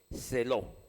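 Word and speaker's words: ζηλόω: Cuando dice procurad, viene una palabra de origen griego que se escribe, voy a letrársela ahí, Z-E-L-O-O, zeló, así. Esa palabra procurad profetizar, zeló, significa en griego, arde en fervor por la profecía.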